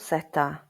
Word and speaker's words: zeta: The letter Z in Spanish is called zeta. The English pronunciation is that this letter usually sounds like the English letter S.